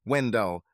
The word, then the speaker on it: Wendell: didn't have a nickname he was wendal with the emphasis on the second syllable Mira didn't mention him